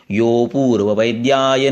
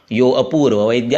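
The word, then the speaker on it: योऽपूर्ववैद्याय: इस कारण से इस अ का उच्चारण नहीं करते हैं। यो अपूर्व वैद्य ऐसे नहीं कहते हैं, उसको यो को थोड़ा सा लंबा करना है।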